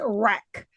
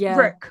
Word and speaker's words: REC: Uh that is wreck. Uh I feel like it shouldn't be pronounced like that because obviously short for record so it should be like rick.